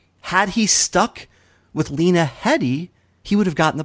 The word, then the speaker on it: Headey: Headey he second-guessed himself he added the L and when you add an L when you add a letter that has no business being in there that's where it was no longer just a matter of pronunciation it was a whole different name so Lena Headey she's